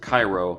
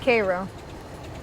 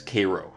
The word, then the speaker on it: Cairo: I love the part where he calls it Cairo which is the Egyptian pronunciation and she says Cairo okay with my first American Gods video I